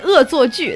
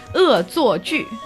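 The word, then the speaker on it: 恶作剧: So we say 恶作剧. That's how you say it in Chinese. What? 恶作剧.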